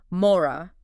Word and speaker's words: מוֹרָה: It's just two syllables. It sounds like this. Mora. Mora.